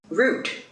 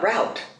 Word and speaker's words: route: it's arab not arab root not route not w it is